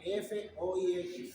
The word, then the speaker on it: Foix: La maniobra de Foix se escribe F-O-I-X. En el cochino castellano F-O-I-X, Foix. Pero en el elegante francés maniobra de Foix.